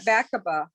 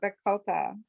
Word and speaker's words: Bacopa: Yeah, I've been and using, you call it Bacaba. I call it Bacopa. bacopa, bacopa. I've heard it Bacopa, pronounced both Cabana.